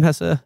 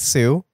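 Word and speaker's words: Hsu: at Once, and Stephanie, how do you pronounce her last name, Hessa? I think it's Sue.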